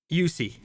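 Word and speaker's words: Juuse: with the next name I want to say juicy Soros juicy Smet how do you say s soros's first name yussi yussi I like okay so uh I've liked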